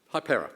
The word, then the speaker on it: Hypera: its name recently to, Jonathan, how do I pronounce it? Hypera, thank you.